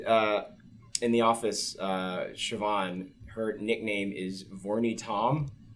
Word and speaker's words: Siobhan: from Siobhan uh but like to them it's pronounced shioon so then shioon becomes VY and then her